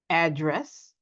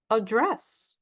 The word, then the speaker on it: address: So they are a noun if we stress the first syllable, but they turn into a verb if we stress the second syllable.